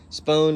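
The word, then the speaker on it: Spohn: pretty easy to find spoon is spelt s-p-o-h-n uh they had it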